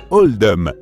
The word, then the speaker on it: Oldham: à celui de l'école ce choix a été fait pour refléter la prononciation d'Oldham dans l'accent local qui se rapproche davantage de holdom par conséquent c'est pour